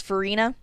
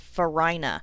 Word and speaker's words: Farina: syllable so it's lebanon do you remember the actor dennis farina that's how this town's name should be pronounced it's named after a type of milled wheat that is called farina but someone came along and decided that they would rather give it the ridiculous pronunciation of farina not newark like new